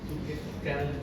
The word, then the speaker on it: Zuckerkandl: ¿Cómo se leería? Zuckerkandl. ¿Ya? Con d l al último, ¿ya?